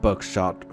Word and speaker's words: Bucksath: of the original owners, the Bucksath, pronounced Buckshot family.